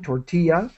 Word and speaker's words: tortilla: And tortilla, that's the North American pronunciation, tortilla.